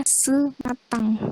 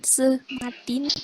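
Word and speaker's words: ce matin: C matin itu bacanya sematang. Kan itu ya huruf C ketemu sama E jadinya sematang. Kenapa bukan sematin? Karena kalau N atau M semuanya di bahasa Prancis itu kebanyakan jadinya eng. Ada suara kayak dengung.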